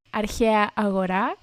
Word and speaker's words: αρχαία αγορά: With the pronunciation, so it is αρχαία αγορά, συνοικία λιμένος.